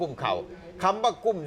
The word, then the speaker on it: กุ้มข้าว: นี้ บ้าน ฉัน เนี่ย เวลา ออก เสียง ต้อง ออก ว่า กุ้ม เข้า นะ กุ้ม เข้า นะ ครับ